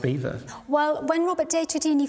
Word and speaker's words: Belvoir: So, to me it seems it's spelt Belvoir but pronounced Beaver.